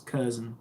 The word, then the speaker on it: Curzon: I wasn't sure how to pronounce it, but it's Curzon, which is pretty cool.